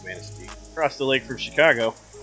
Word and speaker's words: Manistee: a small town that you can pronounce correctly because it's obviously a French word and it is Manistee.